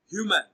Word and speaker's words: human: Option C, human. Human is stressed on its first syllable as human.